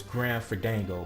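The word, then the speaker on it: Grim Fandango: I think I said again, the name wrong. It's Grand Fandango, my bad.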